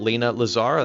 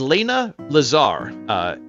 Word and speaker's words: Layna Lazar: Her name is Lena Lazar. It's spelled Layna Lazar.